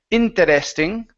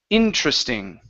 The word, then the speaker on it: interesting: word here okay so instead of saying interesting okay uh we're going to remove this this e okay and go right to the r interest interesting interesting email interesting email